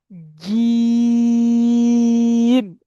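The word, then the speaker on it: جيم: জিম, জিবের মাঝখান উপরের তালুর সাথে লাগাবেন।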